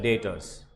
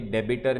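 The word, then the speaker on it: debtors: Next definition आता है डेटर्स. Point number 1, pronunciation clear होना चाहिए. डेबिटर नहीं है, डेप्टर नहीं है, डेटर्स है.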